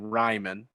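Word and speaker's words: Raimann: been corrected in the past on how to pronounce his name ryman i've been going to bat for a guy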